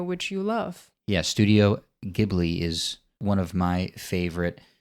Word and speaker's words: Ghibli: English I feel like it should be called Ghibli I believe it's pronounced Ghibli and it actually comes from an Italian word